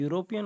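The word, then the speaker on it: European: तो यहाँ पर देखिए जो यूरोपियन वर्ड है इसका प्रोनाउंसिएशन हमारा ये से शुरू होता है, तो इसलिए हम इसे भी क्या बोलेंगे, हम यहाँ पर भी ए आर्टिकल का यूज करेंगे।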